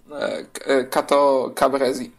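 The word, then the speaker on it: Cateau-Cambrésis: Franciszka I, układem w Cateau Cambrésis. Teraz znowu te dziwne francuskie słowa. Cateau. Jeszcze trochę sobie przesuniemy, żeby nam się zmieściło. Cateau Cambrésis, tak to się pisze, a czyta się Cateau Cambrésis.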